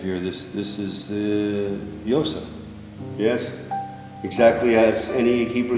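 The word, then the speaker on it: יוסף: what you have here this this is the Yosef yes exactly as any keeper speaking person with pronounce a community certain Yosef the blossom source the bloom across some abuses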